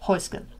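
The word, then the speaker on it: Häußge: How do you pronounce Heuske? There you have it, Heuske.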